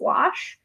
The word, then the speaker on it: gouache: I know opaque watercolor gouache it's just wash okay but people don't